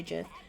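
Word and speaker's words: GIF: and GFS with a with a soft G I'm with the mayor I say Jeff I also say Jeff hex you're a fiend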